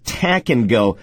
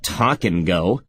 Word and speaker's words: Tack and Go: It's Tack and Go, not Talk and Go.